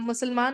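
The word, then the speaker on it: مسلمة: गोलता लगा होता है, गोलता ता के दो नुक्ते होते हैं, और उसको साइलेंट कर देते हैं तो हा की आवाज आती है, मुस्लिमा, है ना?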